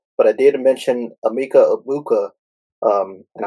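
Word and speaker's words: Egbuka: But I did mention Amika Ibuka. Um, and I think his uh G is silent in his last name.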